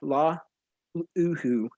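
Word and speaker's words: Laulu: other hawaiian transfer uh jonah la ulu i think is how you pronounce his name uh jonah laluhu yeah la oo yes okay perfect whatever but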